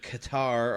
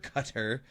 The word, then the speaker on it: Qatar: cuz uh we have the Qatar or Cutter however you want to pronounce it um the F1 race